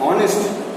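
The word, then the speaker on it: honest: एंड क्यों एंड बोलते हैं? क्योंकि एच जो है ये जब हम लोग बोल रहे हैं साइलेंट हो जाएगा, ठीक है। और रेस्ट पार्ट जो बाकी हिस्सा है ऑनेस्ट ऑनेस्ट ओ तो एक वॉवेल है और हम लोग इसी कारण उसके पहले एंड उठाते हैं.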